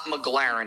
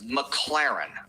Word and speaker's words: McLaren: It's not McLaren. It's McLaren.